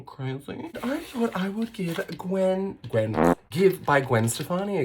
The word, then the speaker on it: GXVE: I thought I would give Give by Gwen Stefani a go. Fun little facts about the brand. It's spelled GXVE because when Gwen signs her name, she does GX.